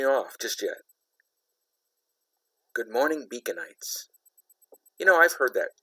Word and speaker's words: Beaconite: And Beaconite rhymes with blight.